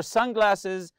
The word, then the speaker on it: sunglasses: Keep your sunglasses and water bottle in easily accessible front compartment. Sunglasses, also the word sun, you have to stress the first part here.